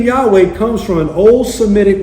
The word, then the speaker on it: Yahweh: God's name is not Jehovah. It's Yahweh.